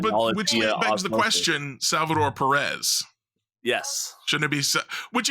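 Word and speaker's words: Pérez: begs the question Salvador Perez yes shouldn't it be which explains why people pronounce it Salvador Perez perezz don't exist in the Spanish language it's an S sound so it's AE couple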